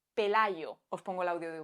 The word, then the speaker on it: Pelayo: Este es el sonido que hacemos muchísimos hispanohablantes para pronunciar la Y que hay entre dos vocales. Pelayo.